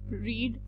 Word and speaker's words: read: अगर आप गौर करें यहाँ पर एक बहुत important बात कि read कि तीनों forms, it's an irregular verb, so the spelling is same. रीड spells R ई ए डी, but when we speak second and third form have different प्रोनंसिएशंस, which is रेड.